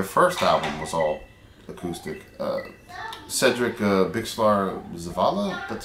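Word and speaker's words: Cedric Bixler-Zavala: Cedric Bixlar Zavala, that's how you pronounce his name, from the Mars Volta, comes in, does some vocals and does drums.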